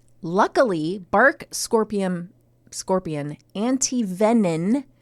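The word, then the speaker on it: antivenin: Luckily, bark scorpion anti-venin. Why do they say venin and not venom? I've never heard of venin. I thought maybe you were saying it incorrectly. I am saying it correctly.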